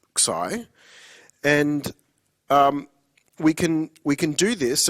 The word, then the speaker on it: xi: And we kind of want to store the value in these Greek symbols, which are pronounced xi. So it's spelled xi and pronounced xi.